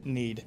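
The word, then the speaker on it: knead: Need.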